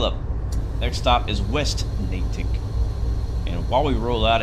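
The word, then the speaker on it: Natick: ride that's good that's good that's good is pronounced natic okay all right doors are closing breaks release rle up next stop is West natic and while we roll out of here we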